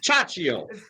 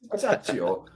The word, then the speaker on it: Ciaccio: Ciaccio. Ciaccio. Ciaccio. It is an Italian name.